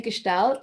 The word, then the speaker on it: Gestalt: Well, it's definitely Gestalt. It's a German word, and so it's quite nice if you can pronounce it the right way.